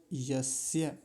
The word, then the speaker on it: यस्य: फिर इसके आगे शब्द है यस्य। यस्य। और मैंने पिछले मंत्र में भी बताया था कि जहाँ य हो उसका उच्चारण स्पष्टता से करना चाहिए। यस्य।